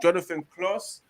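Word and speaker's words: Jonathan Clauss: that plays right he's a french footballer called jonathan kloss that's how you pronounce his name apparently manche united are i've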